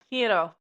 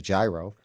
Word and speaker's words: gyro: to me because I know many people that mispronounce the word g y o. One of my favorite foods. Hiro. Hiro. Right. But people call it a gyro.